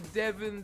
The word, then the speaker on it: Devin: Because that's the Devin that rhymes with 7 and is spelled like 7.